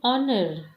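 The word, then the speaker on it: honour: जिन शब्दों में H silent होता है अर्थात उच्चारण करने में एच के स्वर के स्थान पर आ आता है, उनसे पहले भी एन लगाते हैं। जैसे एन ऑनर, देखिए एच नहीं आ रहा ना, ऑनर अ आ रहा है ना, तो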